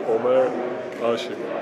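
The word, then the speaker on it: Ömer Aşık: the first name yes say either way but right one is Omar ashik Omar ashik Omar om ashik aik so I need to say it with like a Turkish accent you can't say what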